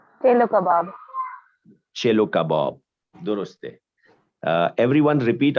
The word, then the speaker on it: chelo kebab: Chelo kebab.